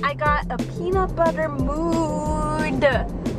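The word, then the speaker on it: Moo'd: got a peanut butter mood I say it like that because it was m o o apostrophe D so like moo like a cow I guess I don't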